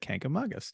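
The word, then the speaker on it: Kancamagus: was a child until my New Hampshire native relatives correct me and said Kank among us so I remembered that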